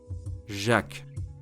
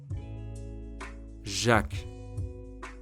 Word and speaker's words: Jacques: Listen and pronounce it with me the French way, 3 times. Jacques. Jacques. Jacques.